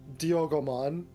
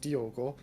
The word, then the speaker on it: Diogo: I am Dio uh not dioon I'm just I'm just Diogo that is silent but you're a digimon